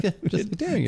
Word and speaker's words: Dareringer: Derringer. Okay. Okay, so it's pronounced the way we've been saying it.